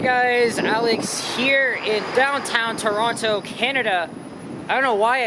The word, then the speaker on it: Toronto: I always pronounce it as silent, as like Tirana or Toronto. I don't know why I said it like that. I mean, a lot of people use different pronunciations, but for me, it is always the second T that is silence.